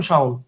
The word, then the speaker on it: শাওন: বানান আমি লেখক মুঝে এমনে খুশি এমনে কিন্তু উচ্চারণ শাওন সিম্পল কথা বুঝতে পারছেন ওকে ফাইন আচ্ছা এবার